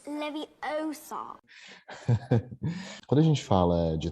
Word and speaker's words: Leviosa: Desculpem os fãs, mas eles não vão aparecer nesse momento que você tá lá dosando para fazer um Leviosa. You're saying it wrong. It's Leviosa.